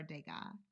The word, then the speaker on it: Degas: And it is Edgar Degas. Edgar Degas. Yeah. The guy? Degas. No, Degas. Yeah. Good. You don't pronounce the S anyway.